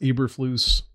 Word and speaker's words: Eberflus: list um coming in is that pronounced eberflus yes matt ebert flew us yeah the defensive coordinator